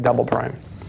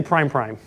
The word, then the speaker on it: double prime: That's how you say it, double prime. Don't say prime prime.